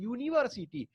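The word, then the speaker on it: university: साथ एन लगता है, लेकिन यूनिवर्सिटी का जो प्रोनाउंसिएशन होता है यूनिवर्सिटी यानी बाई से स्टार्ट, यदि देखोगे तो यूनिवर्सिटी, यूनिवर्सिटी, तो इसका मतलब है कि बाई से इसका प्रोनाउंसिएशन स्टार्ट, तो अ यूनिवर्सिटी होगा, ठीक है, अ यूनिवर्सिटी।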